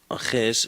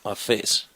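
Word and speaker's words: ἄφες: It's not aches, it is afes.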